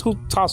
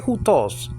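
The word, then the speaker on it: οὗτος: Okay, he, and that's hutas over there. Okay, don't say hutos. Please don't say hutos. And please don't say theon. You know, it's just confusing. You know, don't push modern pronunciation into biblical Greek.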